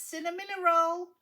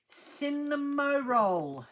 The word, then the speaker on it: Cinnamoroll: set, and it is cinnamon roll. Cinnamoroll. That's how you pronounce it, Eric. Cinnamoroll. But we say cinnamon roll.